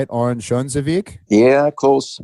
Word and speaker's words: Örnsköldsvik: Örnsköldsvik? Yeah, close. Örnsköldsvik.